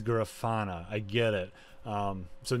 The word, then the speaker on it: Grafana: b without stopping the second thing it's not grandfa it's grafana i get it um so no you can't